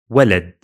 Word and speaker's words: walad: Take the word walad, walad, walad. 2 syllables.